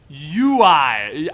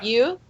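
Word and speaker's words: Yiu: UI. It's Y-I-U. Go. Yeah, just Someone you. Get it right. Just Yeah, you. Y-I-U? you. Yeah. You? Yeah, it's just you.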